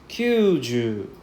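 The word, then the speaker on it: きゅうじゅう: For 90, you can see that there is 1, 2, 3, 4. There's 4 U sound. So we have to drag out the U pronunciation. So we call this kyuju. Kyuju. Right, longer sound, right? Kyuju is longer sound.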